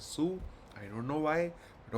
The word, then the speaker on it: Sault: This is not salt, it's pronounced as Sue.